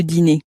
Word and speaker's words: dîner: le dîner, and actually, dinner in French also ends in ER, just as these other words do. So it has a similar pronunciation at the end as that cafe-e sound. So the cafe-e at the end of the word, or the ER at the end of a word, both have that A sound in French.